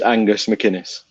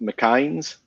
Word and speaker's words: McInnes: Eddie did teach me how to pronounce Angus's name correctly, Okay. which is Angus McInnes. Okay. Well, how were Well- you pronouncing it? How are you you screwing it up? Just somehow? sort of the way it's spelt, McInnes.